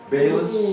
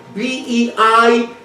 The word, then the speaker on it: Beilis: Beilis, spell it for me. That means B-E-I-L-I-S, Beilis.